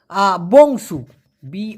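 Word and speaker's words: bongsu: পিচ্ছি সেটাকে বলা হয় বংসুবি ও এনজি বং এস ইউ উচ্চারণটা হবে বং সু বংসুনা বংসু মানে আমি কনিষ্ঠ সন্তান বা সবার থেকে ছোট সন্তান এখন আপনি কি কাজ করেন?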